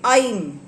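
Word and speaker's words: ऐं: और आप बोलोगे आई। वो लिखते वक्त लिखते ए आई एम एम। बट उसका प्रोनाउंसिएशन है आई।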